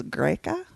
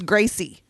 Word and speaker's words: Gracie: So the thing that Colas is chasing after, I thought it was Greca. Yeah, Greca. No, it's Gracie. I was thinking Gracie in my head.